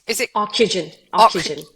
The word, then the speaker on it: Ocugen: So you're the chief medical officer at, how do you pronounce, is it Ocugen. Ocugen. Ocugen?